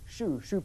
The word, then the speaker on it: choux: But what I'm going to do, in fact, is leave that and show you something that rhymes with roux choux pastry for making profiteroles, cream buns, that sort of things.